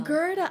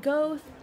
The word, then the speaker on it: Gerda: Gerda, I've been pronouncing it so wrong. I said Goeth.